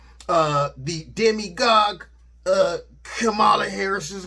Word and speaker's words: Kamala: we apparently unknowingly mispronounced kamala harris's name it is pronounced comma not semicolon comma like the punctuation mark allah harris fine it